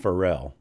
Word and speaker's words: Pharrell: I think it's pronounced Pharrell.